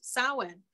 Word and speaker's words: Samhain: I know it looks like Samhain, but it's actually pronounced Samhain, which is the end of the summer.